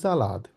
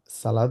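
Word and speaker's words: Salat: D tomato দেয়া জালাদ এটা যেহেতু আমরা এস কে জেড এর মত উচ্চারণ করি ওই জন্য আমরা এটাকে বলবো হচ্ছে জালাদ সালাদ না বলে আমরা বলবো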